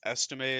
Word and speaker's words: Estime: No, yeah, I like I believe it's Estime is how you pronounce his name.